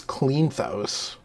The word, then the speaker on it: Kleinthous: Now, Tobias Kleinthous, I think you said it right the first time.